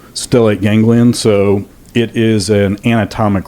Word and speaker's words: stellate ganglion: I may mispronounce it, the stellate ganglia? Is that? Stellate ganglion.